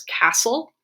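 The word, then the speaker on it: CSSTLC: learning collaborative which stan which we pronounce as castle and it really is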